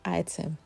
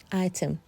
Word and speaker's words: Ightham: But yeah, it's just pronounced as item. Item much as the spelling looks a bit different. But when you're pronouncing, just say item.